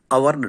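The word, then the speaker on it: hour: அவர்னு எடுத்துக்குவோம். ஆன் அவர்னு சொல்கிறோம். ஆன் அவரில் ஃபஸ்ட் லெட்டர் ஹச் இருக்குது. அது வந்து ஒரு கான்சனண்ட்டு. ஆனால் அந்த ஹச் சைலண்ட் ஆகிறதுனால ஓயூஆர் அவருங்கிறது தான் நம்ம ப்ரொனவுன்ஸ் பண்ணுறோம்.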